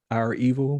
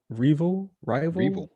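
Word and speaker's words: REvil: So it's R, capital E, V, I, L. So rival, Yeah. but it looks like Resident Evil.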